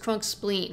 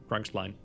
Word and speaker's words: Crunkspline: It's pronounced Crunk Spleen. He pronounces it the American way. Crunkspline. Don't say Crunkspline, you're going to get in trouble. Never mind Ooh, that it's spelled so, like spline. You gotta read it like spleen. Interesting point.